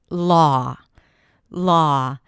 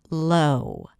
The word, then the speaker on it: law: A lot of times when we see that W, we think it means that it's a changing vowel, a diphthong, and therefore people sometimes pronounce it as low. Low. Low is a different word and a different vowel. There, it's the O's in go, but here it's the aw sound, law, law, as in daughter, or even the